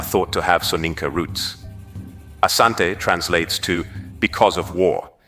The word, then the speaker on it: Asante: combat the denera kingdom the variant name Ashanti emerged from British reports where the pronunciation of Asante was transcribed as Ashanti reflecting how the British heard and interpreted the word the Ashanti Confederation which